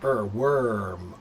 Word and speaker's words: worm: So, it sounds like it should be warm, but it's not.